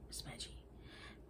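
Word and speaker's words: Smugy: One of them was my form master, Smeggy, as we called him. I spell the name so as to ensure the right pronunciation. The first syllable should rhyme exactly with fugue, though the white variant spelling was smuggy.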